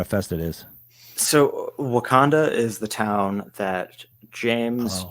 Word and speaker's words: Wakanda: How do you pronounce it? Wakanda Fest. Wakanda.